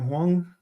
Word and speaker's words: Huang: Your man, the Jensen, how do you pronounce his name? Huang, is it?